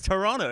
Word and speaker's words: Toronto: How did you know though not to pronounce the second T in Toronto? Did I not? Because it's Toronto. It is. Toronto.